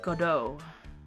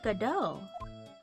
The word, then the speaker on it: Godot: Prosecutor Godot. But the best prosecutor in the country isn't Godot. It's Mr. Edgeworth. I think that it's like how Depot, the T is silent. Probably.